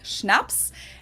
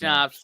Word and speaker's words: Schnaps: alcohol culture in German we spell it like this and say schnaps and it means hard